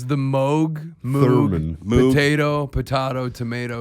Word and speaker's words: Moog: Moog theremin. Is Yeah. it pronounced Moog or Moog?